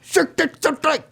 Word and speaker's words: Cirque du Soleil: Cirque du Soleil.